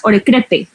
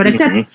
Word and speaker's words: Orecrette: con una adicionales es como si lo leyeras orec crete pero se pronuncia orec Y es que en el idioma inglés o